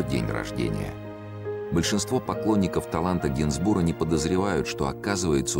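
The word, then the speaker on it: Gainsbourg: русское имя что немаловажно фамилию исправил на генсбур с ударением на последний слог как и положено французам а он намеревался заставить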